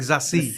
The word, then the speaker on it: Zazie: It's like Zazie.